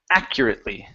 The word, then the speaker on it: accurately: a word for pronunciation make sure to pronounce this a out in front so it's a accurately accurately okay there you go accur so that U is going to be an e okay accure accurately accurately